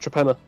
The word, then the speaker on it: Torpenhow: No, Torpenhow Hill, which is literally hill. Yeah, it's pronounced Trepenna. Is it?